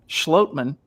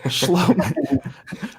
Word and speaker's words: Schlottmann: everyone's doing well remember it's pronounced schlotman not schlong oops pronounce this spelling